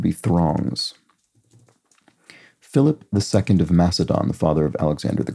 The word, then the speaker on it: Macedon: throngs Philip II of Macedon the father of Alexander the Great there we go or mcadon depending on how you want to pronounce the Greek and once popular rug